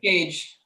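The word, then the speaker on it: Kage: cage stupa no one cage or gage sorry gage spell it k-k-a-g-e k-a-g okay cool all right thank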